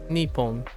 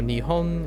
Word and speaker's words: Nippon: Just so you know, in Fujianese it's really quite literally Nippon. So Nihon is very close, but it's Nippon.